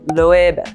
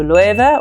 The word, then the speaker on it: Loewe: that it should be a bit of a B, Loewe, because in Spanish, you know, ve and be are kind of the same. But in any case, if you do use a B to pronounce it, it should be very light. So Loewe. Or you can barely, it's like imperceptible, whether it's B or V. So Loewe or Loewe, either one is doable.